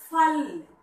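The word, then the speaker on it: फल: When there is no long sound at the end of the word, the last sound a is not pronounced. So it is pronounced by ill.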